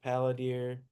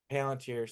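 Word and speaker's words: Palantir: Paladier. Palunteer. Palanteer.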